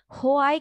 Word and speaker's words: why: হোয়াই কেউ বলবা না ঠিক আছে এই যে WH word এ কখনো হটা উচ্চারণ করবে না হোয়াই কিন্তু একটা ফোনের